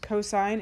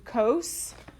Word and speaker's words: cosine: Cosine is the Adjacent. Nice. Adjacent over the hypotenuse. Okay, so cos, don't call it that. It's cosine. C-O-S, we just abbreviate it. Cosine is, what did I say?